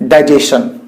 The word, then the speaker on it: digestion: Next rule, when an English word ends with STION, then it should be sounded as stun, not shun. It should be sounded as stun, not shun. For example, question. Everybody makes the pronunciation of this word in a right way. Question. Nobody says question. But you must have heard a lot many people speaking like digestion. It's wrong to say digestion.